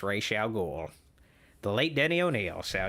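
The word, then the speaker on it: Ra's al Ghul: need to see him the correct way to pronounce Rachelle ghoul's name is Rachel goal it's not raw salgul it's not I know Batman Begins they pronounce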